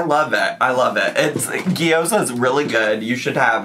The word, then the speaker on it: gyoza: First of all, the first time she pronounced it, it was gyoza, which was closer than whatever that was, which was geyza, which is not. It's gyoza, if I recall correctly.